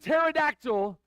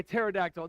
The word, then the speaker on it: pterodactyl: if you said but pterodactyl you got it right okay pterodactyl the p is silent isn't that interesting I